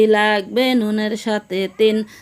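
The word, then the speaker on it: ثاء: ফোঁটা থাকলে তার নাম সা, তার নাম সা। সা উচ্চারণ কেমন হবে? সা জিহ্বার আগা থেকে নরমভাবে আদায় হবে, নইলে সিন অথবা সদ অক্ষর আদায় হয়ে পড়া হারাম হয়ে যাবে।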